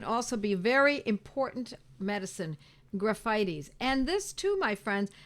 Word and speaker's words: Graphites: Graphites, or it looks like graphites, but it's pronounced graphites.